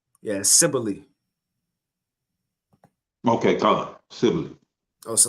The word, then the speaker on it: Cybele: So that's how they pronounce it, Sibylle. I was saying Cybele, but Sibylle.